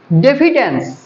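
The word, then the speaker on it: diffidence: আর isolated মানে নির্জন সমার্থক শব্দ বোঝা যাচ্ছে ডেফিডেন্স ডেফিডেন্স ডেফিডেন্স উচ্চারণ গুলো ঠিকঠাক ডেফিডেন্স ডি আই এফ এফ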